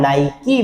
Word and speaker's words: Nike: NIKE, एक आपने शू company देखी होगी जिसको आप बार बार नाइक नाइक कहते हैं, नाइक नहीं होता है, इसका सही उच्चारण होता है नाइकी।